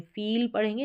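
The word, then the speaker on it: feel: इसको आप double E को बड़ी ई के रूप में फील पढ़ेंगे, ना कि फिल, और इसको फिल पढ़ेंगे, आई जो दे रखा है छोटी ई के रूप में, फिल ना कि फील।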